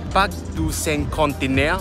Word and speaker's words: Parc du Cinquantenaire: Parc du Cinquantenaire. Oh my god, I actually pronounced that right.